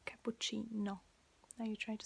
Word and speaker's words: cappuccino: say like un cappuccino that's like cappuccino you see no cappuccino where is in english it's cappuccino it's like longer video at the end